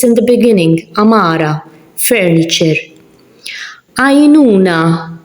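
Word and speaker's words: għajnuna: Ainuna, the ein is in the beginning, so I'm not pronouncing it.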